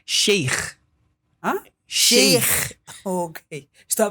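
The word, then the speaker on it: شيخ: Para começarmos, o nome é Sheik Mikdad. O que significa Sheik? Na religião islâmica. Literalmente, para começar, a expressão sheik provém, até a pronúncia sheik está errado. Como é que se Sheik. pronuncia? Sheikh.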